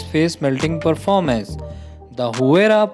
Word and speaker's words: Huayra: The Huayra, pronounced Huayra, boasts an AMG-sourced 6-liter V12 with 2 turbochargers, resulting in 620 horsepower and a massive 740 pound-feet.